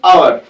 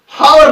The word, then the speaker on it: hour: हावर नहीं है, ये हम प्रोनाउंस करते हैं OUR, आर। और यहां पे जो ये H है, ये यहां पे साइलेंट रहता है और इसके साथ भी